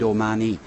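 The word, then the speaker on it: O'Mahony: There's a story behind Omani. My name is O''Mahony. But because I lived in the UK, nobody could ever spell it properly. So I decided to spell it phonetically for the purposes of being on the internet.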